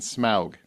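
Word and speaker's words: Smaug: vanquished Kingdom in gold from the Monstrous Dragon smug I say it right yes thank you every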